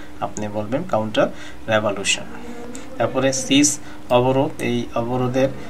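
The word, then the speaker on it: revolution: করেন, এখানে দেখেন লুশন, আর এটা বলবেন রেভা, নট সে রেভুলেশন।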